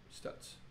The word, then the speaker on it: Stutz: Pronounced Stutz.